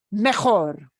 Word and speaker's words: mejor: Mejor. Mejor. Mejor. Mejor. Mejor. Better. Okay. So that J gets a throaty H sound. If you can't manage the throaty part, just an H, that's manageable. Okay, bien.